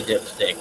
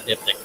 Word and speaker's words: diptych: No, I didn't say dipstick. I said diptych.